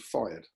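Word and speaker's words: fyrd: He also had untrained farmers who were armed with pitchforks and slingshots are called fired. That's how we pronounce that word.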